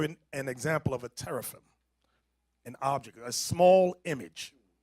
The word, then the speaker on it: teraphim: an image, and without an ephod, and without teraphim.